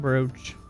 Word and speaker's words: brooch: Stone brooch. Why it's pronounced brooch when spelled brooch, I will never know. Probably the French's fault.